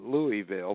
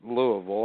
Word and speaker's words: Louisville: When people read it, they call it Louisville, but you're right, they pronounce it Louisville.